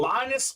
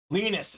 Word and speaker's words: Linus: what did I say Bob leanus it's pronounced Linus I apologize if I said the wrong thing lean uh Linus o'mark one of the